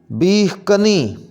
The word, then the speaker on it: بیخ کنی: کو صحیح اس طرح کر کے پڑھیں گے بیخ کنی، بیخ کنی، پنساری، صحیح ادائیگی ہوگی پنساری، پنساری، پنساری۔ بیساکھی، اس کا صحیح تلفظ ہوگا بیساکھی، بیساکھی۔ بلند، بلندی، صحیح پڑھیں